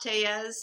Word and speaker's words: Tellez: I'm at Mara and my last name is pronounced tez. It's te e lll l ez.